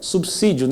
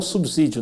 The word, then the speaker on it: subsídio: de certificação pmp ok então é subsídio não subsídio né às vezes na na